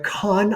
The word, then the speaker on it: Kann: There is Let's Talk About Love by Claire Kahn. I believed her last name is pronounced. It's spelled Kann, and it is a